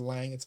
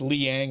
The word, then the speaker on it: Liang: I've been mispronouncing your name as Lang. It's Liang. I was corrected on that.